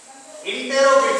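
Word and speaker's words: interrogative: आगे आते हैं इंटेरोगेटिव सेंटेंस, जिसे आप इंटेरो लिखते हैं, इंटेरोगेटिव सेंटेंस उसे आप प्रोनाउंसिएशन में कहते हैं इंट्रोगेटिव सेंटेंस।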